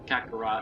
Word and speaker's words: Kakarot: Dragon Ball Z katha brought cataract however that's pronounced Kakarot oh yeah Kakarot like wait till that game